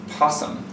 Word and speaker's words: PSSM: What you frequently hear them called is possum.